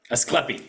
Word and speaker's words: Ascleppi: Franco Kraiselburd, the founder of, I want to pronounce this correctly, so if I don't hurt me, but Ascleppi? Ascleppi.